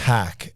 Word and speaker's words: Hack: was talking to Corbin hack H as in hacking yeah as in hacking